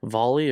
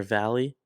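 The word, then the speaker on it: VALL-E: Volley or Valley. It's like Dolly with the D, but with a V instead.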